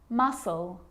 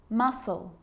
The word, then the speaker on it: muscle: a few problems because it's often silent after the letter s like in these very common examples they're quite tricky muscle muscle scissors fascinate scene scenario